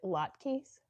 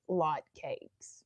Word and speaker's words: latkes: Is it latkes? Did I say that right? You have to tell me my pronunciation. In my head, I want to say like lot cakes, but I know that's not right.